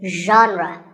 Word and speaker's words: genre: the correct pronunciation is genre pay attention to the first sound it's like shh but you have to put your voice into it genre genre next up